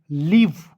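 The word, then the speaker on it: leave: आपको याद रखना है जब ई आता है तो ई को हम लोग साइलेंट कर लेते ई का उच्चारण नहीं करते काट दीजिए एकदम ठीक है तो एल का होता है ल और ई ए साथ में आएगा तो इसका उच्चारण बड़ी के रूप में और भी का होता है दोस्तों व एल ई ए व ई लीव क्या पढ़ेंगे एल ई एवी ई लीव पढ़ा जाएगा एजेक्ट क्लियर यहां तक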